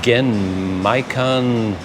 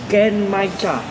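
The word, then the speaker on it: Genmaicha: Gen Maicon something. I don't know what that is. Gen Maicha. Oh, Maicha. Gen Maicha. Okay. I got some information about the name. So it's like Gen Maicha cold brew tea.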